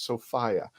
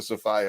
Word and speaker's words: Sophia: the correct way to say her name is sophia i've been corrected and i've corrected my 10-year mistake so i apologize to sophie about this and i want to welcome everyone